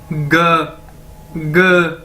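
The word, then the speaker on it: 哥哥: उसके बाद जी हमारे पास है जी, ये देखिए सबसे पहले मैंने ऊपर आपको बताया कि जीई को हमने कैसे बोलना है, ग, ठीक है, जीई ग ग ग, ठीक है।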